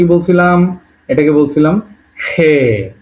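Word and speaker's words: Х: এটাকে বলছিলাম খে। উচ্চারণ হবে খ এর মত।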